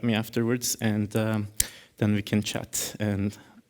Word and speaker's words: Can: My name is Can, actually, like Emre Can, so that's how it's pronounced.